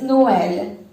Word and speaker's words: Noël: If we have 2 vowels together next to each other, like this one, like we have in this example, next to each other, and instead of pronouncing them together, we pronounce them apart in order to see to it that both are pronounced without losing their identities.